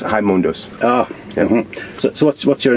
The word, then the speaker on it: Raimundos: Yeah, it's pronounced Raimundos.